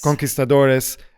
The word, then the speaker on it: conquistadores: So this economics professor made a comparison of the Spanish colonizers, how do you pronounce it? Conquistadores. Conquistadores, to, pillaging, exactly.